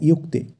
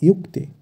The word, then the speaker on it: যুক্তে: তারপর হবে অন্তস্থীয় জয় রস্যুকার কয় তয় একার, মানে ইয়ুক্তে। আমরা জানি অন্তস্থীয় জ থাকলে সংস্কৃতে তার উচ্চারণ হয় ইয়া, তাই এক্ষেত্রে যুক্তে হবে না, হবে ইয়ুক্তে।